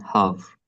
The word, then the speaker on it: half: Here in silent L, like in talk, walk, and half, all of these words have silent L.